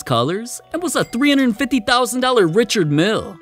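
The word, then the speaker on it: Richard Mille: and was a $350,000 Richard Mill is Rish Mill yeah yeah yeah whatever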